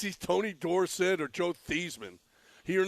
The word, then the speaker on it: Theismann: The German pronunciation is Theismann. He called himself Theismann. Raheel is not that. Because he wanted to rhyme. But he wanted to rhyme with Heisman.